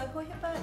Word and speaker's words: Hohepa: So Hohepa is the name for Joseph, but it's the Maori pronunciation of the name Joseph. And Joseph was one of the founders of Hohepa back in the, was it 60s?